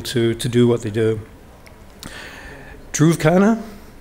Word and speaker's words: Dhruv Khanna: Dhruv Khanna, pronounced right?